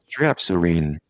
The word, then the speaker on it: Strepsirrhine: Strepsirrhine.